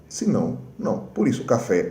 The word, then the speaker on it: café: Por exemplo, café. Café, não é café, é café. Se a palavra aguda termina com N, S ou vogal, ela será acentuada. Se não, não. Por isso, café é acentuado e espanhol não, porque é uma